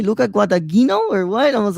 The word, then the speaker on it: Guadagnino: Johnson was like, "What did you just say, Luca Guadagnino, or what?" I was like, "No, dude, I'm trying to say it in the Italian pronunciation, but obviously it's not coming out right."